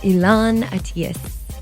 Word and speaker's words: Elan Atias: front of me is the one and only elon atheist did i say it right yeah of course